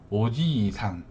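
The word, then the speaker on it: おじいさん: 위쪽으로는 그 위쪽에 보면은 오지 이상, 요 발음 잘 하셔야 되는 게 할아버지 할머니는 발음을 좀 잘 하셔야 돼요. 왜냐면 보면은 오지 이상이에요. 근데 오지상이라고 되면은 다른 글자가 돼버려요. 그러니까 요 장음 기호 요 구분해서 잘 발음해 주시고요.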